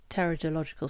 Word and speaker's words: Pteridological: Or as your granddad always said, silent P as in swimming pool.